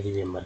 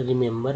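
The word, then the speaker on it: remember: तीनों को कैसे पढ़ते हैं, पहला ई का उच्चारण छोटी के रूप में, दूसरा ई का उच्चारण ए के रूप में, तीसरा ई का उच्चारण जो है आ के रूप में, है ना।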